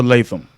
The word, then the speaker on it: Latham: And we've been saying the last name wrong for years. Well, at least I have anyway. I've been It's calling her Sanaa Lathan Lathan. with an N on the end. It's It's Latham, Latham. like Walter Latham, Daughter.